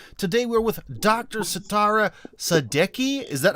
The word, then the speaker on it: Sadeqi: Setareh Sadeqi. Is that how your last name is said? Yes. Sadeqi. It's actually the sound that Sadeqi, yes. Sadeqi. Okay, Exactly. Sadeqi. So, for emphasis on the first syllable, well, that's a big